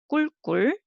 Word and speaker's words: 꿀꿀: 꿀꿀. So first word, the first syllable and second syllable the same.